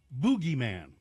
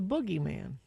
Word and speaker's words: boogeyman: yesterday and he said the word Boogyman it's a boogeyman it's Boogeyman everybody says Boogeyman he kept saying Boogyman how does Casey in the Sunshine Band say it that's the proper pronunciation why does that happen